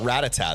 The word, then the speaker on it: Rattata: how I say it I've heard people call it ratata though and that that makes sense like how it's spelled ratata but don't they don't they call it Rattata in uh in the anime like you you don't hear a character in the anime saying like go ratata they say they say